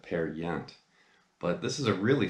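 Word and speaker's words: Peer Gynt: it's how it's pronounced I used to pronounce at Pier Ghent and then somebody pointed out I believe it's actually Norwegian and you don't pronounce it the way it looks you pronounce that pair yet but this is a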